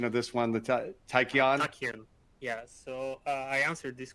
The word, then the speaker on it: Tachyon: Would there be an extreme version of the gigabyte board like the, help me out with the pronunciation of this one, the Tachyon? Tachyon.